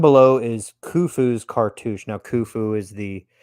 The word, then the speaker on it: Khufu: is khufu's Cartouche now Khufu is the and it's Khufu right you have to make them you have to clear your throat a little bit before you say his name uh the drawing below